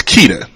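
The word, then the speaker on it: Ceita: okay because it's unique but it's keita that's that's the name it's spelled c-e-i-t-a right but i didn't want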